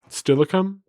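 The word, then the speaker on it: Steilacoom: Stilicum. Stilicum. That's how that's pronounced.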